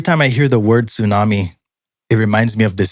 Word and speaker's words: tsunami: He would always say, not tsunami, it's tsunami. Tsunami.